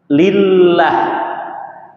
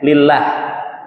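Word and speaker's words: لله: yang paling menakjubkan adalah ketika lafaz Allah dihilangkan alifnya Menjadi apa Hah lillah ya lillah walaupun tidak ada lam yang pertama tapi dibacanya lillah Inna lillahi ya kan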